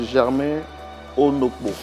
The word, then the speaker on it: Germain Ono: Je pense que juste à côté, c'est votre père, monsieur Germain Ono. Shalom. Vous allez bien ? Oui. J'ai bien prononcé votre nom ? Oui, c'est bien. C'est ça.